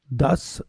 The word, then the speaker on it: Duss: Everyone pronounce it the way it's spelt, Duss, D-U-S-S.